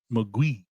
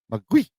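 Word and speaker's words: 魔鬼: The Mandarin pronunciation is Mugui. Mugui.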